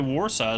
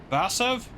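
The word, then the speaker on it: Warszawa: Yeah, cuz Warsaw is not really Warsaw, is it? In Polish, it's the W's have like a V sound. So, Vasv, I don't know.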